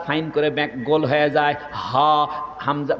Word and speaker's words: হামজা: করে গোল হয়ে যায় হামজা বাতাসটা বাইর হয় হামজাহ বুকের বাতাস বাইর হয়ে যায় ওই ডাক্তার বলতেছে আরবি